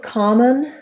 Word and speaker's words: common: about common and commonly so both common and commonly have first syllable stress the letter o says